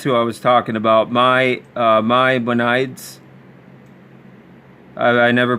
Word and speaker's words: Maimonides: about these Noahide laws, like I think it's Maimonides. I can never pronounce that name right, but he's a Jewish rabbi writer.